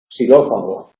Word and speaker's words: xilófago: En posición inicial se pronuncia como S, xilófono, xilófago, no se pronuncia xilófago.